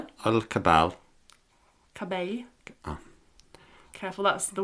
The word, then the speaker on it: cabell: el cabell.